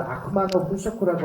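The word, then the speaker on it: 悪魔の飽食: 이게 이제 일본 발음은 아쿠마노 후쇼쿠라고 하는 건데 81년도에 이제 논픽션 소설은 소설은 소설이지만 완벽하게 역사적인 사실을 갖다가 만든 거죠.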